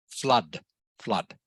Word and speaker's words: flood: And once again, the word flood, okay, it is not pronounced flood, it is pronounced like it is a U in the letter but. Flood, flood.